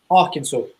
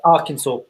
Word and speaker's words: Arkansas: the the guardian has given Trump uh Aransas Arkansas as it's nown it I am I pronouncing it wrong I'm sorry no Arkansas that's how it's pronounced oh okay see when